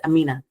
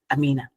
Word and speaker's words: Aminat: States um Amina oh by the way it's Amina Amina the te is silent always um okay so one the first